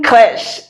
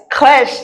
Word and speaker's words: crèche: Une crèche. Yes, crèche. Just like when we say crèche. We are saying crèche because in English, CH is what? Ch. In French, it is ch.